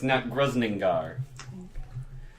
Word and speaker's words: Nattgrusningar: It's Nattgrusningar. That's how you pronounce it.